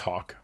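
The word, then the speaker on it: Haack: asking here um i he actually pronounced it as hawk like the like the bird yeah ajwk it's pronounced as hawk correct that's exactly what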